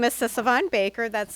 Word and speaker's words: Sisavanh: you good morning good morning my name is sisavon Baker that's spelled s as in Sam I is an